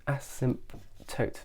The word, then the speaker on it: asymptote: is called an acetate asymptote P is silent and this essentially is